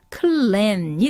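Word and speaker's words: cleansed: was clands이 단어 보시면은 일단 단어는 클리인이 아니라요 클랜이 되고요 이때 s는 지읒 발음이 나서 클랜 요렇게 발음이 되는 단어입니다 여기서 2리가 붙어서 과거형이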